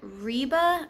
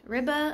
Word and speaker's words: Ribe: finally made it to I believe it's pronounced Riva I looked on the uh internet like Google and that's what I found so we had finally